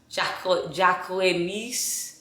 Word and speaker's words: Jacquemus: it real i don't i didn't know how to pronounce this um designer so i had to look it up and jacqueline jacqueline niche that's how you say it that's how you say the brand so i wanted to